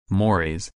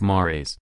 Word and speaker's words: mores: Mores, pronounced mores, are much stronger norms than our folkways.